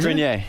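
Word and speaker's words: Greer: Grineer is the right way to say it. Gr. Is it? That's No, it's You don't even know how to say it. I don't know. Your co-star doesn't even know how to say your name. It's grier.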